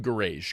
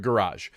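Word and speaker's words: Gouraige: I started saying Garage because it looks like Garage. I went to the University of Florida pronunciation guide and listened to one of their press conferences, and their communications director introduced him as Richard Garage.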